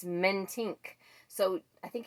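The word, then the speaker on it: Mentink: is dana or dana mentic i've been saying diana i finally looked at that and thought oh my goodness actually it's not even mentic it's men tink so i think it's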